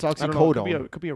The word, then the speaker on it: oxycodone: I thought I thought people said oxycottton. I don't think if is it oxycottton? It's oxycodone.